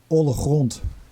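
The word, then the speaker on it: Oale Grond: I would say Oale Groond. All Groond? Oale Groond, yeah. Groond, obviously, this part of the Netherlands has the harsh G, which the whole world probably can't pronounce without getting a sore throat.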